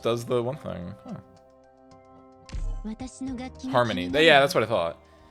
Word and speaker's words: Hermione: Harmony. Yeah, that's what I thought. Because I knew it spelled like Hermione with the O and I-E, but I was like, I'm pretty sure it's Harmony with an A.